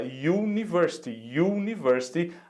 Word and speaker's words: university: Só que olha só a pronúncia dela, university, a pronúncia de U. Então, nós sabemos que em inglês começa com a letra Y, que é uma consoante. Então, vai ser a university.